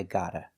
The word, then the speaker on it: gotta: Or, pronunciation change, the T can change to a D and you hear I gotta.